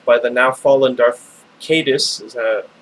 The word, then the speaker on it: Caedus: After a violent civil war and the devastation wrought by the now fallen Darth Caedus, it's how I always pronounced it. I think some people say Caedus.